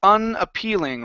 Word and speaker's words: unappealing: This word here, instead of boat, okay, this is an ah sound in the middle.